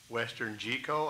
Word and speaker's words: WesternGeco: to the panel that it's not gecko. This is not about amphibians.